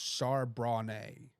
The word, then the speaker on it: Charbonnet: And Carson says the running back's name is pronounced Charbonnet.